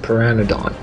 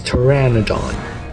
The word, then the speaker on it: pteranodon: run on to attack i'm gonna say piranha dawn oh no it's pteranodon the p is silent and boom dead break